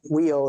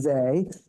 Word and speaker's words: Weil: So anyway, it's not wheel, it's they. And I mean, it's really confusing because she's French and that sounds German, but it is Simone Weil. Is how you say it.